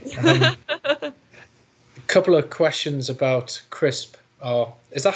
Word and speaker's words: CRISPR: A couple of questions about CRISP. Is that how you pronounce it, by the way? CRISPR, like right, potato crisps.